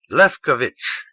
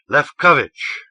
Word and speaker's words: Lefkovic: self and he said lefkovic knew and as he said it to himself he placed its Accent on the second syllable left coverage he let the paper